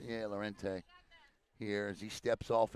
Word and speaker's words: Lorente: How did you pronounce his name, Lorente? Lorente. Yeah, Lorente.